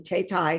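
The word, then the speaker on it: Thao Thai: Next, we've got Banyan Moon by Tay Tai, and that is how you pronounce her name, Tay Tai.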